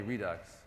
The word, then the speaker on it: Redux: So we have Angular support, React.js, React, and how do Americans pronounce it? Redux? I say Redux. Yeah, I say Redux. You say Redux? Yeah. OK, Redux. OK.